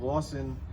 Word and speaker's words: Lassen: Uh, I had a Dutch native pronounce the L sen spelling and uh, she said it exactly like we say Lawson today.